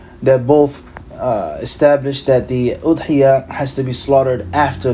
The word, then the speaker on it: أضحية: word udhiyyah, such as with a dhamma, udhiyyah, or with a kasra, idhiyyah, it can be said as well.